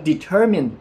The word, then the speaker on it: determine: เนี่ย ออก เสียง ว่า determine m i ใน กรณี คำ นี้ มัน ออก เสียง ว่า Min มัน ไม่ ใช่ คำ ว่า mind ดัง นั้น แค่ เรา